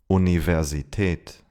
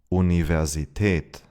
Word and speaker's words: Universität: In loan words of Latin origin, the V is pronounced like in English. Here are some examples. Vase, Vase. Nervös, nervös. November, November. Visum, Visum. Universität, Universität.